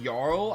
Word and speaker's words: Jarl: Okay, you pronounce this Jarl.